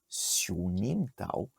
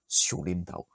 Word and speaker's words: Siu Nim Tau: donc voilà, pour résumer, la prononciation correcte, ça serait Xiunim Tao. Mais en fait, la plupart des locaux, toutes lignées confondues à Hong Kong, vont te dire Xiulim Tao.